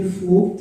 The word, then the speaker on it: Vogt: Esse mesmo pronuncia Vogt? Luciano Meio. Não, meu nome é Vogt, eu sou da idade alemã, não sou nem